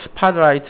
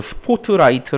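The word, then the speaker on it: spotlight: 있냐면 대표적인게 이런게 있어요 아 이거 스팟 라이트 라고 하는데 우리나라 식 발음으로 스포트라이트 라고 하거든 킵 2% 도 있죠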